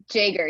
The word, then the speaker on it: Jaeger: my notes jaeger did i get that right jaeger yes you know you never know you know you always think that okay i should pronounce this like a y and then you go there and it's you actually do have to say the j what's up with that